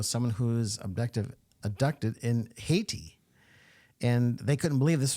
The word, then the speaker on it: Haiti: was going on uh I read that as haytai like South Dakota well we're a bunch of South Dakota Boys I had to think did I see it did I say it right oh you're right it is Haiti and um so uh